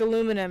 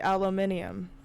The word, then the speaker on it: aluminium: say it's thermal thermometer like aluminum it should be aluminium no because the the british luke well they're throwing the extra eye we don't spell it with that eye they put an extra eye in there like they put a u in color babe you can't spell aluminium without you and i yeah but in england there's two eyes that's beautiful listeners if